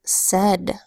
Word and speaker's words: said: our other sight words we have said s a I D usually a I says a but instead it makes a short e sound X I said again